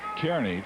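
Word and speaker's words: Kearny: pronounced I would I would pronounce it uh Kerney too I believe it is Nebraska Kerney Kerney is what I would pronounce it but he says it's Carney back there name after some guy whose name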